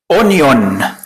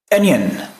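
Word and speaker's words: onion: مانيه اه هنا بقى تعال نط ننطق الغلط الاول علشان نتسكع على افانا ف نحترم نفسنا اونيون انا والله العظيم يعني اول مره حفظت فيها الكلمه حفظتها بالشكل ده اونيون طيب ايه النطق بقى السليم انين ها ا زي ما سمعت كده انين الاو بنقلبها كده حاجه زي الاي على خفيف واو برضو اللي في النص بتتقلب كانها مش موجوده يعني تحس كانها بتتخطف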